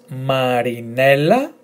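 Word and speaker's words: Μαρινέλλα: So let's go. M A R I Marie N E, the emphasis, then L as one letter, don't forget. A. So Marinella, Marinella.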